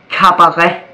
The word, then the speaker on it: cabaret: In Danish, that would be cabaret. But it starts with a C, yet it is pronounced like a K.